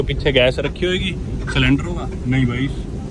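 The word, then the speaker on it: Sule: पर पता नहीं, मेरे को दिख नहीं रहा सिलेंडर है नहीं। वो सामने जो आपको दिख रहा है स्ट्रक्चर, वो है सुले pakora. सुले, हाउ डू you pronounce it? सुले और सुले, सुले, ओके।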